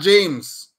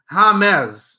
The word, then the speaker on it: James: of the football names don't call him James his name is not James his name is Hamed okay get it right